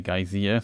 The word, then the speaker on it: geyser: Geyser, I think the pronunciation is like. In German we say Geysir, so it's very different. It's written pretty much the same, but pronunciation is just in English kind of unusual.